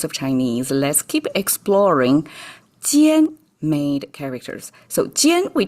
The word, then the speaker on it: jiàn: So pronunciation also carried over from jiàn, except here is jiàn, fallen tone.